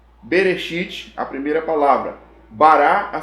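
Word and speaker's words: בראשית: céus ea terra esse é gênesis 11 é bereshit bará elohim ramarim flat rarest é em hebraico a pronúncia de gênesis 1 olha que coisa curiosa gênesis 1 tem sete palavras em hebraico berechit bara elohim et hashamaim vet rarest 7 lá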